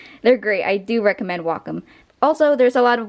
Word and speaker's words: Wacom: I have the right to pronounce it Wacom, and you have the right to pronounce it the wrong way.